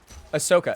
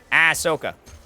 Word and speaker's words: Ahsoka: Ahsoka. Yeah, okay, so I'm saying it right. I couldn't remember. I was like, that sounds very Rochesterian of me. Ahsoka.